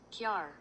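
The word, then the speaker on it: Kjaer Weis: Somebody told me in my last video how to pronounce the name of this brand, and I need a quick reminder, so I'm just gonna look this up real quick. Kiar. Kiar. Kiara Weiss from Kiara Weiss. Okay, we're gonna say that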